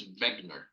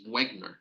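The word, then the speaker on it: Wegener: begner or Wagner granulomatosis it depends whether you will pronounce it in German I think in German it's Vagner in in English it's Wagner so wgar granulomatosis or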